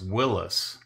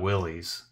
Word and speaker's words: Willys: that it was pronounced Willis like Bruce Willis is their exact words were like it's supposed to be pronounced like Bruce Willis's name not Willies and so I consulted